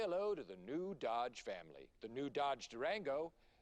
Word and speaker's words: Dodge: Okay, it's pronounced Dodge. I don't want to tell you how to do your job, pal, but I'm pretty sure it's a soft D. Let's just try Dodge.